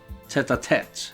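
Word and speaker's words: tête-à-tête: Tete-a-tete, I think it's actually pronounced. French, you know. French and Irish don't trust the letters.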